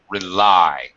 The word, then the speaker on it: rely: verb uh Mo to rely rely not really but rely it's a long I uh if you rely